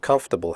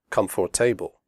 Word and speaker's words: comfortable: we say debt comfortable the word comfortable has three syllables not for the o.r is silent we say comfortable not comfortable comfortable clothes the final